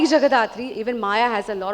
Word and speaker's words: Jagadhatri: Jagadhatri, Bengali में अगर बोलूँ Jagodhatri, being a Bengali, I would want to pronounce it that way, is जैसे show का नाम भी है, माँ दुर्गा का ही एक रूप है।